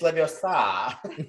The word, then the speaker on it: Leviosa: It's just Hermione, like, doing, okay, it's Leviosa. Sa.